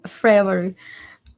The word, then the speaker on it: Freawaru: Like Freawaru? I don't know how to I don't want to butcher it. Yes, so it's Freawaru.